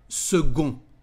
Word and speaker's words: second: they said the word segun and pay attention to the weird pronunciation because the letter c is said like g in french and pay attention